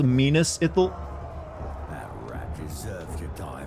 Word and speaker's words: Minas Ithil: I guess he went in there and tried to correct him on how to pronounce Minas Ithil or something. It's actually pronounced Minas Ithil.